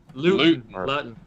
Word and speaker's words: Luton: Is it Luton or Luton? Jake Luton. Luton. Like Luton's cough drop.